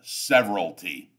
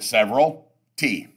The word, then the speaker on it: severalty: owner owns the property in what is called severalty and it's pronounced that way when we're in class I usually make people pronounce it pronounce the word several T several T that's how it's pronounced so you